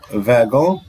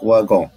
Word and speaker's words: wagon: كلمة wagon يا جماعة لها نطقين، تنطق wagon وتنطق wagon. تنطق wagon في كل دول العالم وفرنسا، لكن تنطق wagon في بلجيكا اللي هي كلمة اللي هي عربة قطار، يعني تنطق wagon وتنطق wagon.